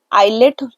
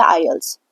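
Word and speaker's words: IELTS: exam होता है और आईल्स आईलेट आयलेट बोलते बट इसको पढ़ना चाहिए आईल्स टी साइलेंट होता है ठीक है तो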